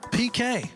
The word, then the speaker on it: Piqué: PK. PK. He's got the same last. Isn't that a penalty kick? A PK? Yeah. But it's spelled differently.